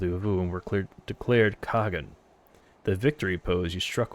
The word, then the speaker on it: Khagan: It's pronounced Han, actually. They don't say the Khag. The Khag is not pronounced the Han. I'm so sorry for anyone I've offended. Mom got a game, thank you for the shout out. Glory to the Han is how it's pronounced.